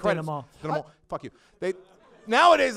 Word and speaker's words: denouement: It's pronounced denouement.